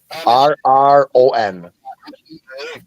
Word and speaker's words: Heron: It's Heron. It's like the bluebird. It's HEARRON. Heron.